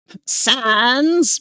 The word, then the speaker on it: Sans: Is it Sans? I need sense Undertale to make French puns effective immediately. Oh, you don't pronounce the second S at all, huh? Sons, pick up your dirty socks.